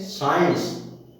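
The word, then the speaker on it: science: यदि कोई शब्द एस से प्रारंभ हो और उसके तुरंत बाद सी तथा सी के बाद आई आए तो सी का उच्चारण नहीं होता है। जैसे साइंस, साइंस माने विज्ञान, आप सभी जानते हैं।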